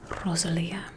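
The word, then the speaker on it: Rosalía: just something i think rosalia that's the way she likes to say her name she likes to roll her r's she did the asmr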